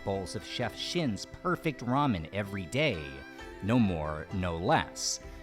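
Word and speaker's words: ラーメン: start of this video lamen pronounced in Japanese of course as Ramen anyway given the direct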